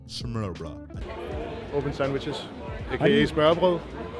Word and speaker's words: smørbrød: We had open sandwiches and smørbrød. open sandwiches, aka smørbrød.